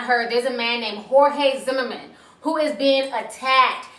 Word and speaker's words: Jorge: guys have not heard there's a man named Jorge Zimmerman who is being attacked and harassed nonstop on Facebook this makes no sense basically people are equating him to George Zimmerman his name is Jorge his name is